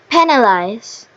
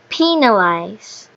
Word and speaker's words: penalize: penalize And here is the correct pronunciation. penalize So, as for penalize, uh the in- the correct pronunciation um shows primary stress on the first syllable.